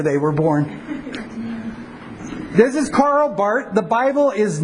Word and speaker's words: Karl Barth: proclaimed Christ of faith karl barth excuse man I did it there Carl Bart his name is Swiss so you don't pronounce they are Carl Bart Carl Bart 1886 to